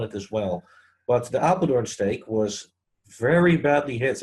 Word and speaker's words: Apeldoorn: How do you pronounce that? Apeldoorn? Yeah, Apeldoorn.